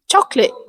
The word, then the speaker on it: chocolate: Even though the spelling looks long, most people say it with just two syllable chocolate instead of chocolate.